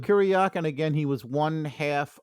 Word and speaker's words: Kuryakin: Ilya Kalyakin, how do you say his name? What was his Ilya name? Kuryakin.